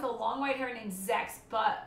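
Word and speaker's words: Zechs: long white hair named zex but when it's pronounced it sounded more like sex so i remember my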